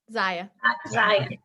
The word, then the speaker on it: Zyia: when she put her is it zaya or zia how do you say it zaya so when she set